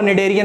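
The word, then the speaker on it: Schneiderian: Question पूछा जाता है, ऑल्फैक्टरी को स्नेडेरियन या निडेरियन, अगर प्रोनाउंस तुम अपने हिसाब से करोगे, बट इसका एग्जैक्टली जो प्रोनाउंसिएशन होता है वो निडेरियन मेम्ब्रेन होता है, ठीक है।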